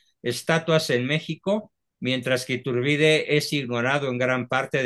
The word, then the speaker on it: Iturbide: tiene No si tienes sí con acento en la i tiene estatuas en México mientras que turbide es ignorado en gran